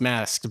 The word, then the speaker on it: Masks: The MASKS, pronounced masked by most people, is a tabletop role-playing system devised by, oh shit, I looked up this person's name.